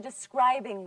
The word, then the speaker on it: describing: And this is a describing word. Listen to me, everyone. Describing. Describing. Where's the stress? On which syllable? Scribe. The second. That's right, on the second syllable.